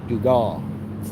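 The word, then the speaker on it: Dugat: Like I said, go watch the interview with Greg Dugal. It's spelled D-U-G-A-T, but it's Dugal.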